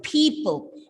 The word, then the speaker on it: people: Now, this is a commonly mispronounced word by our students. The problem is like P. You have to start with a plosive P. Again, there are two plosive sounds, people, and L.